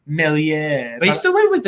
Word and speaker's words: Meslier: Both of them, Adams, Rafinha, Bamford, all doubled, and Meslier. Sad, man. That's unlucky, mate. It's pronounced Melier.